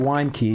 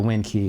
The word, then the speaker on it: wind key: key so I think it's actually supposed to be wine key because it winds up the um the machine and causes it to explode but I always just call it the wind key because it's spelled wind even though wind and wind are spelled the same uh so this is